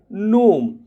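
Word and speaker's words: gnome: से आ रहा है और जी एन में जो ज या ग देखिए जी के दो प्रोनंसिएशन होते हैं दो उच्चारण है जी यानी ग या वो दोनों नहीं आ रहा डिजाइन रिजाइन और फिर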